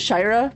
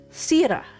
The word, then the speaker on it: Sira: So this spelling, I pronounce it Shira, but it's Sira, which is a Arabic Malay name.